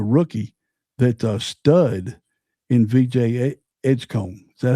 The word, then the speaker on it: Edgecombe: And then you got the rookie that stud in VJ Edgecombe. Is that how you say his name? Yep. Edgecombe?